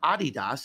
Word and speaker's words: adidas: manager for uh for adidas or or adidas as is pronounced in most parts of the world and he said i